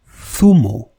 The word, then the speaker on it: zumo: It is not z. It is th, like in Zaragoza, which is the name of a city, or zumo, which means juice.